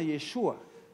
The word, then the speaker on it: Yeshua: ellos se refieren a yeshua así lo pronuncian ellos en hebreo yeshua no yeshua sino yeshua y